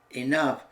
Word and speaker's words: enough: at this crazy family the o u g sound in these words rough Tough Enough all contain an F sound the o u g